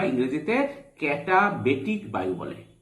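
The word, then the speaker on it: katabatic: এই বায়ুকে নিম্ন ঢাল বায়ু বা ইংরেজিতে ক্যাটাবেটিক বায়ু বলে। কি বলে ইংরেজিতে? ক্যাটা বা কাঁটা, তোমরা উচ্চারণ করতে পারো কাঁটা বেটিক বায়ু।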